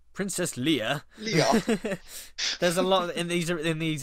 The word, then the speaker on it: Leia: I like how this guy mispronounces Leia as well. Oh yeah, he says Leo, Princess something like Leo. Leia.